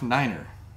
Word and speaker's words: niner: all right then how the supposed pronunciation they want you to use now is Fowler Tree five Niner all right every time